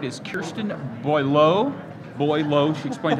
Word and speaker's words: Boileau: Boileau, she explained how to pronounce it.